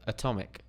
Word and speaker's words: atomic: because of the apostrophe stress can also change pronunciation so here we have atom atom then we have Atomic Atomic ATM so we have that wide open a sound ATM and then